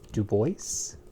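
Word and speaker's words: Du Bois: is amazing next wev Dubois as he is called mainly in the United States and as I think he usually called himself I believe that he pronounced his own name that way for particularly his American compadres so here he is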